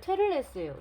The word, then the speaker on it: 테를레스: 그리고 이제 무질 책 이제 따로 주문했는데 소년 테틀레스라고 읽고 싶은데 테를레스예요. 소년 테를레스의 혼란.